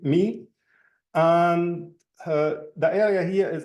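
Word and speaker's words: μ: them me cars me like the Greek letter mu which is pronounced in Greek me and the area here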